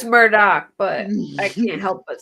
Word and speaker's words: Murdaugh: say smart all but we know it's Murdock mm-hmm but I always do Myrtle don't I I'm talking to you I say Murdoch too just because I've been saying it since the beginning that's why I renamed a murdick I know it's Murdoch but I can't help